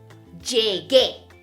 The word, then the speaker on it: llegué: The G changes to GU. So we're going to say llegué, llegué. That U is silent in this case. Llegué.